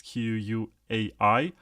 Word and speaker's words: Quai: K, the CTO of a project which is called Quai or Quai, whatever you want to pronounce it. It's Quai.